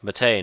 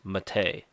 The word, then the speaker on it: MATE: And it's Mate, not Mate or Mate, it's Mate. That's actually how it's pronounced. It's supposedly French.